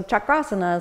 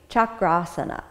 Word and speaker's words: chakrasana: designation as opposed chakra is a wheel so chakrasana is literally the wheel pose so it's to